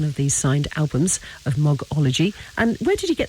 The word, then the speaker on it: Mogology: They say oh, Mogology.